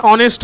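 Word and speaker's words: honest: অ্যান অনেস্ট হয়, মনে রাখবে কয়েকটা শব্দ আমি বলছি তোমাদের, যেটার আগে অ্যান হয় অনেস্টের মতোই, ঠিক আছে, এইচ থাকলেও অ উচ্চারণ হচ্ছে অনেস্ট।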